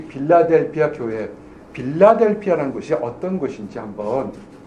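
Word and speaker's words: Philadelphia: 빌라델비아 교회의 얘기합니다 그러니 이제 이 빌라델비아 교회의 필라델피아 라는 것이 어떤 것인지 한번 살펴 보길 원합니다 우리말에는 빌라 델 표했지만 영어 발음은 힐라 될꺼예요 우리 바로 6주 있는 필라델피아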